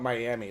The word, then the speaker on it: Miami: sorry I called it Miami let me let me get Oklahoma with it miam even though it's spelled exactly like Miami yeah know Jesus yeah